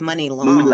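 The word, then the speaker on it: Muni Long: to money long because is how you say your name money or Muny I thought it was money think I thought it was money money it's money long oh it's that's on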